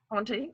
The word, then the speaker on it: Ponte: Do you pronounce the last E? Da Ponte? Da Ponte. Ponte, okay, is his fourth book.